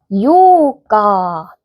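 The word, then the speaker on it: ようか: 요까 그리고 나서 니다라고 하니까 네스. 같이 해볼까요? 아사와츠 요까데스 아사와츠 요까데스 자 여기를 길게 늘려 주시는 거 들리셨나요? 요까가 아니고 요까라고 해 주시면 확실히 4일과 8일의 차이를 느끼실 수 있겠죠.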